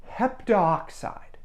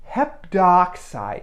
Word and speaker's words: heptoxide: Rule and that's that if you have AO or oo turn it into o here's what that means we got this heptoxide here so to make